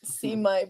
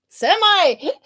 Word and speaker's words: semi: Not seami, but semi. Semi sounds like seaman.